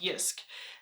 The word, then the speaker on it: Jysk: a few items from was a store called yusk it looks like J but apparently is pronounced yusk this store is based in Denmark and has